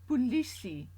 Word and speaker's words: polisie: Let's hope you're not unfortunate enough to need the police, but if you do, you will be asking for the polisie in Afrikaans.